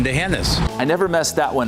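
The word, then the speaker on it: D'Hanis: Not the heinous. A common mistake, but wrong. And remember, there's no anus in Dehennis.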